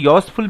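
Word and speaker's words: useful: Iron is এ ইউজফুল metal, এখানে ইউ এর উচ্চারণটা ওয়াইয়ের মতো হচ্ছে ইউজফুল মেটাল, তাই জন্য আমরা এখানে iron is এ ইউজফুল metal বলবো, অ্যান বলবো না।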